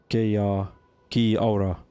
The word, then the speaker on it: Kia ora: Okay, I will teach you one phrase we all know, which is Kia ora, meaning hello, good luck, or also farewell. It's pronounced like Kia aura.